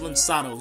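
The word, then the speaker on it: lançados: this is a simple overview of uh the lansados it's pronounced linsanos you see that c but it has like a a little thing there under the sea so the lensados or the thrown out ones they were settlers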